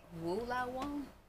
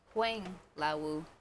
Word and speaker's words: Huang Lao Wu: opened the bag I realized I pronounced the name wrong I said woa woa Woo it's Wang Lau fried D twist brown sugar flavor from China